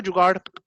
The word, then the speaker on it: जुगाड़: English में चूंकि ड़ा की साउंड भी नहीं है इसलिए कभी इसको रे लिख आर लिख देते हैं, कभी कोई डी लिख देता है। तो कोई मुझे प्रोनाउंस करेगा जुगाड़?